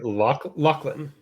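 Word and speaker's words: Lochlyn: how do you say his this name Lachlan Lachland Monroe he's also a Canadian actor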